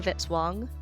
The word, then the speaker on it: Vitzwang: Music by Kevin Vitzwang, rhymes with hit song.